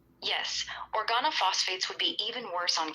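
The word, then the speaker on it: organophosphate: Organo phosphate. It's pronounced or G A N O F O SE. Organo like organ plus O. Phosphate like phosphate.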